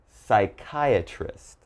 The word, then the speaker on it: psychiatrist: So all right, if you ever see these words in something you're reading, just remember there's a silent P when the word begins with P and is followed by a consonant.